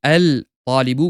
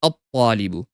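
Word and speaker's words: الطالب: Instead of saying al talibu, we say at talibu. Instead of saying al talibu, we say at talibu.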